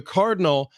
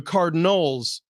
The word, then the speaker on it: Cardinal: to do with trees they're the Cardinal and you may think oh you're mispronouncing that the Cardinals like plural no not the bird the color for all